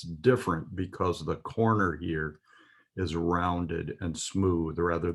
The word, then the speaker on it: He: Okay, the next letter that we will learn is He. It's spelled H-E in Hebrew. It is pronounced as a hard H, as in He.